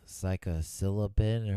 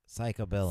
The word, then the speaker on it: psilocybin: it mushrooms, I guess, psilocybin or whatever it's called. If you hadn't said it, I would have had it. Yeah. Psilocybin. Psilocybin. No. Psychobilin. Stop saying it wrong.